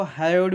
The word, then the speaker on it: hyoid: Tongues, और जो टंग टंग का जो बोन कहते हैं, उसको बोन को हायोइड बोन्स कहते हैं। इट हैज HYOID, हायोइड bones.